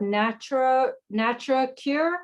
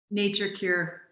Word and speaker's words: Nature Cure: She's the founder and CEO of Natura Cure. Is that how you pronounce it? Nature Cure.